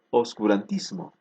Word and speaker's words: oscurantismo: fonológico en la pronunciación por ejemplo oscurantismo antes era obscurantismo tenían sonido pero ha perdido el transcurso del tiempo en un proceso evolutivo ha perdido sonidos por tanto ahora no